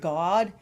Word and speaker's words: God: Yeah, if you notice the way I pronounce it. G-A-W-D? G-A-W-D. Yeah. G-A-W-D. God. Yeah. Yeah, that's how she said it.